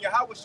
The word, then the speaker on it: Yahawashi: after Moses him and Yahawashi know how to say his name in Hebrew it will be Yahawashi and him and our Lord